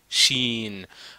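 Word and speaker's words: شين: Chine chine chin chin c'est pas chin chin chin non sh chin donc quand on ajoute trois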